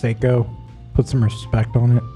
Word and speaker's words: Seiko: It's a psycho mojito. M I'm so sorry that Ethan did that to you. Yeah, it's pronounced Seiko.